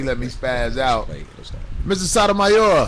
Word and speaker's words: Sotomayor: You say it close, it sound like Sotomizer, no? Sotomayor? Yes, Sotomayor.